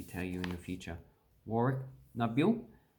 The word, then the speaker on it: Warracknabeal: And that's pretty much pronounced how it actually looks. So Warracknabeal. Indigenous words, in Australian English, at this point in time, we don't cut them down. We just pronounce them all the way.